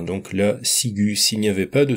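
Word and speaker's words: ciguë: est plus logique puisque c'est le U qu'on veut entendre, donc là, sigu.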